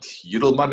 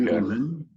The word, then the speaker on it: Yudelman: We're speaking to Yudelman. Am I pronouncing your surname right there? Yeah, you put a bit of an Afrikaans twist on it. It's just Okay. Yudelman, but Yudelman is good.